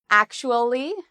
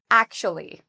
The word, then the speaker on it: actually: Some people say it in 4 syllables, actually, actually. Other people say it in 3 syllables, actually.